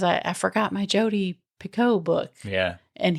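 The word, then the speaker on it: Picoult: And he doesn't he say Piccott? Yeah. He and he said it's Picott. Well, I had to listen to it today cuz I didn't know how you actually pronounce it, but it's Pico.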